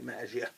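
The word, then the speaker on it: Maggia: nefaria head of the magia or magia what I say magia soft G she became his air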